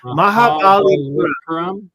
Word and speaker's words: Mahabalipuram: How do you even pronounce that? Mahabalipuram.